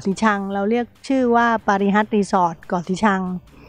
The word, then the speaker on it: ปารี: จะ ถาม ว่า เอ๊ะ ปารี นี่ มา จาก อะไร เนาะ ชื่อ ปารี ฟัง ดู ง่าย ๆ ดดี ปารี เนี่ย ภาษา มาลายู ค่ะ ออก เสียง ว่า ปาริ แปล ว่า กระเบน จะ